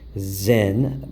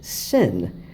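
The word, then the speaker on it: Sinn: of the show and that's basically Zen but the gentleman here pronounced its sin so I guess depending upon where you're from you know the pronunciation like change because needless to say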